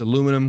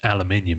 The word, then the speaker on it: aluminium: You guys say aluminum, but you miss out several syllables. It's actually aluminium if you look at the word.